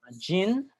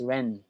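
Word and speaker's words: 仁: the meaning of uh gin stop short of altruistic love it does not include sacrificing one's own aims completely for other people but uh you actually pronounce this as Ren a Jin Ren uh it provides the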